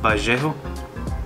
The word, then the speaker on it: Vallejo: These two are Vallejo, or if this is Spanish, it would be Vallejo, because the double L's you will pronounce as a Y.